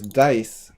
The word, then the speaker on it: dice: So, the silent E, the purpose of the silent E is to make the vowel sound different in the previous syllable.